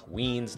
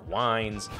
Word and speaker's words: Wiens: for mispronouncing your name it's mark wiens not mark wines and today my mother-in-law